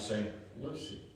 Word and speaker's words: St. Lucie: So we stopped in, is it St. Lucie or Lucy? Lucy. Okay, it's not spelled like I love Lucy, so it looks like Lucy to me. So we stopped to St. Lucy, went to Cracker Barrel for some breakfast.